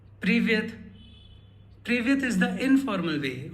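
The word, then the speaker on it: Привет: The first word that we have is Privyet. Privyet. Privyet is the informal way of saying hello. It's used with friends, kids, or family. Repeat after me. Privyet.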